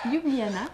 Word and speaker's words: Ljubljana: Alors, ça se prononce Ljubljana.